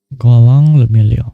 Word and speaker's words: Guillaume le Million: Golong le million. If it doesn't rhyme, you're not pronouncing it right.